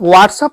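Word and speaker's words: what's: जैसे व्हाट is your name, W बोलने के लिए मुंह को राउंड करो, माउथ को राउंड करो, फिर बोलो व्हाट्स अप।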